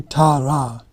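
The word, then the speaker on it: Tārā: So actually, the deity Tara, the female one, it's actually Tara. Both vowels are long.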